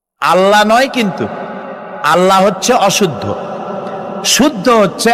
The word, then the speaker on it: আল্লাহ: আল্লাহর নাম আল্লাহ। বলেন তো আল্লাহ নয় কিন্তু আল্লাহ হচ্ছে অশুদ্ধ শুদ্ধ হচ্ছে আল্লাহ বলার সময় মুখটা গোল হয়ে যাবে বলেন তো